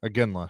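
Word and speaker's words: Iginla: I can't pronounce his last name. There you go. How do you say it? Aginla.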